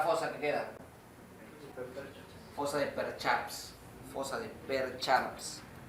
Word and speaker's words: Percharps: Apúntalo. Así como suena. Percharps. P-E-R-C-H-A-R-P-S. Percharps. Y lo pones entre comillas porque esa es la ¿cómo se llama? La castellanización. Porque como se escribe es medio difícil. O sea, es la castellanización.